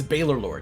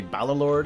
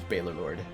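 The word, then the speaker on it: Baylorlord: Although I've heard others call me Balorlord, and that's fine. I consider those interchangeable, like, regional pronunciations. I'm not going to police anybody on that. It's all the same to me. It's all the same to me, but the way I pronounce it is Baylor Lord.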